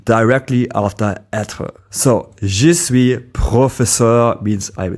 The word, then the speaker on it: suis: As already mentioned, je suis means I am, and the final s in suis is normally silent.